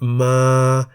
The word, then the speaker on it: มา: Both syllables begin with a localess consonant ma and are therefore in the middle tone.